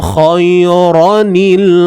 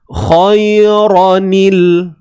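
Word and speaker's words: خَيْرًا: In taraka khairanil wasiyah. Khairanil. Apa yang tuan-puan dengar? Apa yang tuan-puan dengar? Terdapat satu sebutan huruf nun kan? Bunyi nun yang berbaris bawah.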